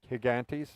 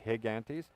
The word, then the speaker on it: Higantes: at the beginning here higantes it starts with a g though it's called gigantes but it's pronounced higantes it is an absolutely